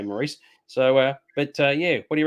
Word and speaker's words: Maurice: So I don't know about you, but as soon as I heard Maurice, now apparently it's pronounced Morris because it's English, not Maurice, but I say Maurice.